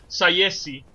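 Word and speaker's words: Tsaesci: to i don't know how to pronounce uh taishi uh tank mo oh it's it's oh yeah there's a there's official pronunciation for us they're actually called sayessy say yes that's how you suppose yeah yeah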